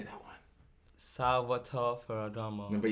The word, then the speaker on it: Salvatore Ferragamo: Salvatore Ferragamo. No, but you got to roll the R. Salvatore Ferragamo.